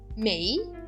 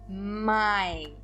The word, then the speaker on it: Mai: significa em português my observem aqui que a pronúncia do a i é igual a pronúncia do e i então eu não digo mei eu digo my o mês de ma